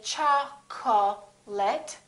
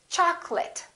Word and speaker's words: chocolate: of people get wrong we don't say cha ko let we say chocolate and remember don't say chocolate it's chocolate i'd like some chocolate and